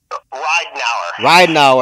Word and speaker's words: Reidnauer: how do you say your last name Ry now so how how's it how's it going